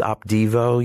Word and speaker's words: Opdivo: This Opdivo, you've seen an ad on television for Opdivo. Did you say Devo? Opdivo.